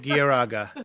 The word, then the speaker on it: Garaga: It's actually the Japanese pronunciation of Galaga. I guess that works out. Gieraga is the pronunciation.